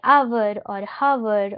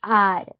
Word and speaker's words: hour: So a lot of times we mispronounce these words like we say our or her. Okay. So this has a silent h and a very different pronunciation. It is are not our right.